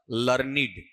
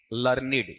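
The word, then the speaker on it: learned: लर्निड। लर्निड। ये इसका उच्चारण है।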